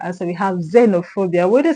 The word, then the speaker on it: xenophobia: So xenophobia has its stress on PHO.